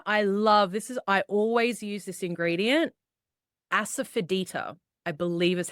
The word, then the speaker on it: asafoetida: Then I always use this ingredient, asafoetida, I believe is how it's pronounced.